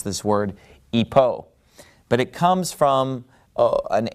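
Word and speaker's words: ὑπό: rough breathing mark so in the ancient Greek pronunciation you know it started with an H sound we're of course using modern Greek pronunciation so we would pronounce this word Ipoh but it comes from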